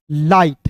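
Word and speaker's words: light: एल का ल आई जी एस टी है तो इसका उच्चारण आई के रूप में करेंगे तो हो जाएगा दोस्तों एल आई जी एस टी लाइट क्या हो जाएगा दोस्तों एल आई जी एस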